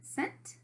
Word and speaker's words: cent: C with a line now remember it a C comes after the an e comes after the C which is why the C makes an a soft C sound it makes this sound like in celery then we have the